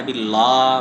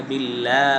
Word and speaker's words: বিল্লাহি: বিল্লাহি আচ্ছা গেল বিল্লাহির লাম। এরপরে হল হা। বিল্লাহির হা। হার মধ্যে দুইটা বিষয় স্মরণ রাখতে হবে। একটা হল বিল্লাহি। হাটাকে স্পষ্ট করে পড়তে হবে।